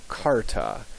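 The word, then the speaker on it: charta: CH is always uh like a k really as in chaos it's never cha cha ch ch cha that was a later thing um in the Middle Ages so this word um is pronounced C Carta and a Carta is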